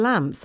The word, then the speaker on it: lamp: 여기 L 발음이 잘 안 되시는 분들은 여기 앞에다 을 집어넣으면 돼요. A lamp 이렇게 보세요.